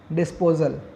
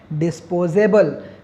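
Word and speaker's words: disposable: क्या बोलते हैं, बोलिए, डिस्पोजल, है ना। एक्चुअली वो डिस्पोजल नहीं है, उसका प्रॉपर प्रोनाउंसिएशन क्या होगा, डिस्पोजेबल, जिसे फिर से मतलब नष्ट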